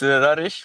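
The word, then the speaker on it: Rareș: Today, for the first time, we have Rares. Am I Hey, pronouncing your name right, man? yeah, normally it's Rarish, but yeah, Romanian It's name.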